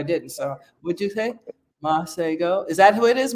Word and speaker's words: Masego: I'll I'll get his name I apologize oh monsiego yeah that's it that's it my my niece